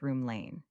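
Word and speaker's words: Rome Lane: and which was in a place called Rome, pronounced Room Lane.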